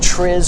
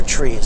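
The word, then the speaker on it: TRIZ: it doesn't make any difference the apparently the the acronym for alt-schuler's thinking was either pronounced tris or trees i'm not sure in english it's appears as t-r-i-z but the notion here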